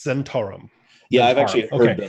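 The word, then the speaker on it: Zhentarim: I call it the Zentrum because that's just how I've read it in books, and I probably mispronounce it all the time. Is it actually pronounced Zentarum? It's officially it's Zentarum.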